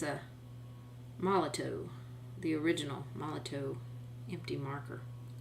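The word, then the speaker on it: Molotow: Well, it's probably because it's a Moloto, the original Moloto empty marker.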